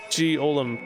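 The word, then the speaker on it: G-Olm: which is of course G Olam much to his surprise this ends up being pronounced like Gollum anyway on a side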